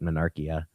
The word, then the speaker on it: Monarchia: You said it right, Monarchia, and then you kept correcting yourself the wrong way.